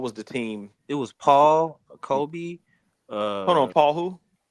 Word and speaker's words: Pau: You said Paul. I was like, Paul? my fault. I pronounced I hear you. Pau Gasol.